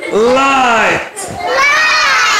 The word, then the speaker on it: light: ال G H دي هتبقى silent مش هننطقها خالص. أي كده ال G H دي هتبقى silent مش هننطقها. هنقول إيه بقى؟ light.